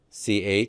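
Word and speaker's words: π: pronounce this letter uh most of you want to say Pi don't you math fraternities sororities all mispronounce it okay it's p uh so we'll call it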